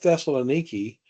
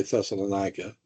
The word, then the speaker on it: Thessaloniki: Now, you realize that the people at Thessaloniki, today that's how you say it. People say Thessalonica.